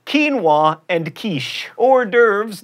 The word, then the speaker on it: hors d'oeuvres: like quinoa and quiche hors d'oeuvres not dovers and penne not pen